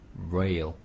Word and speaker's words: rail: 그래서 rail 네, 발음은 좀 더 강하게 rail 이렇게 발음 이 발음이 없었어.